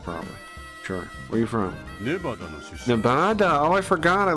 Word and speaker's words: Nevada: you guys are from Nevada NADA is how you say it Nevada is how you say it that's the way everyone here that lives here says it Nevada but because of like Spanish or whatever people say Nevada I think but that's not correct